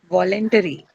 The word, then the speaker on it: voluntary: Voluntary. Voluntary. Voluntary. The ARY, right? Voluntary. Uh, First one, first syllable, right? To be marked on the first syllable.